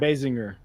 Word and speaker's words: Basinger: Is it Bassinger? Basinger.